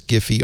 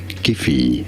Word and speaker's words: Giphy: Okay, the CEO of Giphy calls it hard G.